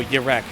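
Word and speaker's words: Jerez: Oh, Jarek. Okay. Because I was looking at your name and I'm thinking like the Jarek circuit. Because even though it's spelled J-E-R-E-Z, it's pronounced like Y.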